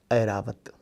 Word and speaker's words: ऐरावत: किंतु कभी कभी इसका उच्चारण खास उदाहरणों में ऐ जैसा भी होता है। जैसे हाथी का नाम सुना होगा, बड़ा प्रसिद्ध हाथी है ना, ऐरावत।